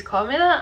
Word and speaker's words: Carmilla: Carmilla, I think that's how you say it. It is Carmilla and I did read it during August.